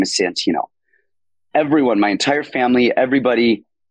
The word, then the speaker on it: Santino: would go on so now I've started like really like enunciating Santino so people like oh that's an a not a what the hell is